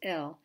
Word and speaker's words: אל: under it a segal it's pronounced ill and in general even in speaking you're not going to be able to hear the difference between l god and l which means it's preposition 2